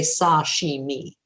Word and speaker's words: sashimi: to say it and even more noticeable if you order just the raw fish sashimi which in japanese person tells me i'm a little closer when i say sashimi with equal length this